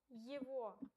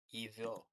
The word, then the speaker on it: Его: Его. Pay attention, G is pronounced like V here. Oh. Его.